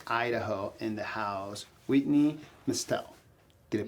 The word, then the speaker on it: Mestelle: we got inclusive idaho in the house whitney mustell did it pronounce that right yes yes that's very good